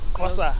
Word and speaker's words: Xhosa: Kosa. Tosa, yeah. Kosa. X-H-O-S-A. Yeah, I know how to spell it, man. It's saying it's hard, bro. Like the clicking sound, yeah.